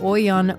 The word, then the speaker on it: Auyon: My dad is Bengali, my mom's Punjabi, and the Bengali pronunciation of the word Auyon is Auyon. Everything gets a little rounder and awe-sounding in Bengali.